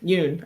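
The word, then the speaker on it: Yeun: Steve Wynn, I think is how you say his name. Oh, is it Wynn? Yeah. Yeah. From No, The sorry, Walking Dead. Yoon. I think it's Ewan? Yoon. It is, yeah.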